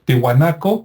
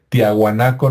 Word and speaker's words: Tihuanaco: titicaca y también este tihuanaco que me cuesta trabajo pronunciarlo porque también me acostumbré a decir tiahuanaco no por los los este eh History Channel y el Discovery que así le decían pero tihuanaco está relativamente